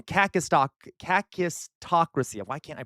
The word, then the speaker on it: kakistocracy: Kakistocracy. Why did I have trouble pronouncing that? And I even spelled it wrong. Kakistocracy.